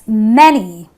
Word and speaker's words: many: the next word many I don't say many the a again gives me the a sound so it is that's many okay well this is